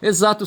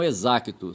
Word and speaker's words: exato: Exato se escreve com X e se pronuncia exaco, exato e não exacto, certo?